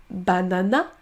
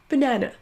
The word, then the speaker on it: banana: On ne dit pas banana, mais banana.